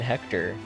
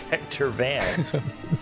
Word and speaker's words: Hector: drink alrighty uh dr van hechter it's hector oh hector van mordhau